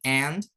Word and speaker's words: aunt: Kemudian aunt. Bacanya aunt ya.